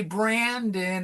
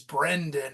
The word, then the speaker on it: Brendan: And that's kind of a joke because people who don't know how to say my name Brendan, which is an Irish name, they say Brandon. And I really hate that name Brandon. It's not. That's British. My name is Irish. It's Brendan, right?